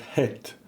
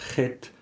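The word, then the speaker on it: חית: This is the Hebrew word het, not het. It's het. So it's a deep H, similar to the way that similar letters are pronounced, for example, in Arabic.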